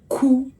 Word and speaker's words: kú: And if it is written this way, now it's a more sadder word because it is pronounced ku, mi, ku. It's a mi tone, ku, and that means that something is dead, something has died.